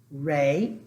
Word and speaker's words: re: Do, re, because the E's are pronounced as a long A.